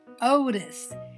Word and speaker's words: Otis: Long O vowel sound. Boys and girls, meet Otis. Otis. Do you hear the long O sound at the beginning of his name, Otis?